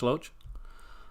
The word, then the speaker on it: Loach: spell pronounced all right is it loach did i get that right like rhymes with roach loach um another film by